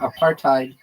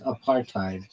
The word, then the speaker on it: apartheid: In American English, the H sound disappears in practice when preceded by a consonant such as T.